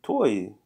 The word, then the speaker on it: tuoi: Tuoi, is it tuoi? Tuoi Tuoi, yeah. pantaloni. It's not tui, it's tuoi, pantaloni. So how do you say pants or trousers?